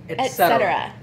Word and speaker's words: et cetera: Is et cetera. A very common incorrect pronunciation is to say ek.